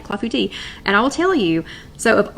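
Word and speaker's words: clafoutis: is French it is cloth booty cloth booty so I'm not saying it right clafouti and I'll tell you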